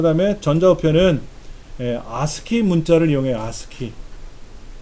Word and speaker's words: ASCII: 아스키. ASCII라는 아스키. 그냥 우리말로 그냥 아스키라고 읽어요. 콩글리시로.